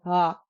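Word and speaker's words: འ: In reality, it's a soft start, ah, ah. And I find the best way to do this is to drop your jaw. Ah, ah, ah. But this is tricky, and if you're really struggling, put in a little bit of a W.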